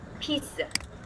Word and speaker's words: pizza: Pizza. Good. Pizza. Pizza. Pizza. Okay. Pizza. Yes, it's like the Z became S, right? If you pronounce it. Yeah. Yes, so it's like an S, pizza.